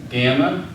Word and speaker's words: gamma: a bu like ball gamma it's a g like gift it's never going to be